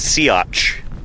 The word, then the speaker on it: Siats: Uh and the Yeah, the dinosaur's name is pronounced Siats.